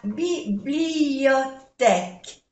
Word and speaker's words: bibliothèque: La bibliothèque, no se pronuncia ni la U ni la E.